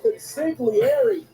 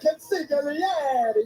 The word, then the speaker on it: consigliere: Luca Crucifino, the consigliere, dressed to the nines and ready for main event action. Yeah, you're saying it wrong, Peter. It's the consigliere.